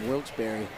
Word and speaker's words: Wilkes-Barre: Yeah, Wilkes-Barre.